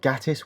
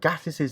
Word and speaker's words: Gatiss: Mark Gatiss was originally opposed to having Charles Dickens as the star of the episode, but changed his mind.